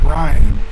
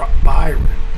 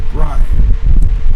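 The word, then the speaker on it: Bryon: Basketball player Brian Russell's first name, Brian, is often mispronounced as Byron.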